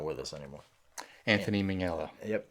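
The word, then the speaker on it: Minghella: with us anymore Anthony mingela yep Ming mingela mingela hard G on that um mingela no Anthony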